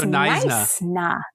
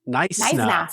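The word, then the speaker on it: Knysna: The K is silent. It's so Naisna. Naisna.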